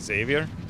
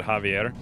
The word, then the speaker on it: Xavier: That happens to me a lot with Xavier. Because everyone pronounces it Javier.